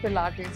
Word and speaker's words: Pilates: Has anyone ever mispronounced the word Pilates in front of you? Always. Yes. Tell us some fun ones. Plates? All the time. It's plates, it's pilates, so many variations to it.